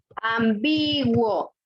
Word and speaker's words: ambiguo: ¿Dónde lleva la fuerza de voz? en B. B. Por lo tanto es grave o llana. Grave. Ambiguo. No es ambiguo, ¿ok? Si decimos que es ambiguo, entonces sería esdrújula, pero no es.